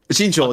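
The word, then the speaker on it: Jinzhou: Jingu.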